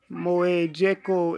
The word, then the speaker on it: Mojeko: Mojeko is how you pronounce my name.